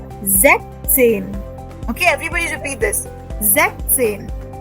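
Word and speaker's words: sechzehn: Because the Z already gives the S tone, na? So why to put another S over there? That is why we write Zechzen. Zechzen. We don't say Zechzen. No. We say Zechzen.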